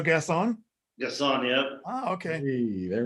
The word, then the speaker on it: Gasson: pronunciation or last name is it french or is it american pronunciation of your last name french it is so gass on yes on yeah okay